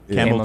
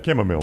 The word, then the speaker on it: chamomile: And is that how you say it? Camel tea? Yeah, chamomile. Chamomile tea.